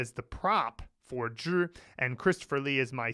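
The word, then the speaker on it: 只: When Zhi is pronounced in third tone and means only, that made Ryan think of help us, Obi-Wan Kenobi.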